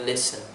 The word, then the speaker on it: listen: has five sounds yeah because the T sound is silent so it's not actually sounded the next one we